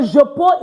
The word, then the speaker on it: je peux: Don't forget, we're not going to pronounce this X. All right? So je peux is I can.